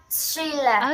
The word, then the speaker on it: Sheila: Sheila. Okay, that's better. So, borrow. Borrows. Sheila. She. Sheila. Okay, that's better. Don't forget how to pronounce sh.